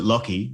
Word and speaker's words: Lachy: is absolute nonsense if you want people to pronounce it lockheed like l-o-c-k-y then your name should be loki